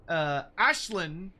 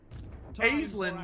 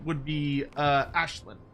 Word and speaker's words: Aislinn: Aislinn would be the real-world correct way to say it. Legend. Aislinn, which is what he says in game, Casting off.